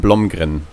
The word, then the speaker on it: Blomgren: I'd say Wilhelm Blomgren. Perfect. That's perfect. Blomgren?